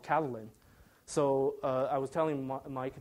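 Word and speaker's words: Catilin: So we formed a company called Catalin. So I was telling Mike that my heart was broken when I found out C-A-T-A-L-I-N was taken, because initially I wanted to say Catalyst and Lin.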